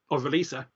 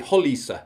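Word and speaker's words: Roliça: how to pronounce it, the Battle of Releasa. I think technically, even if we want to get really technical, I think it might be Holisa, but I thought that was a step too far.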